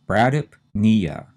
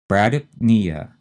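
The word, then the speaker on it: bradypnea: the third syllable so we have two syllables we have to say pretty fast and run them together and put the stress on knee so this is brdp nia brdp nia b r a d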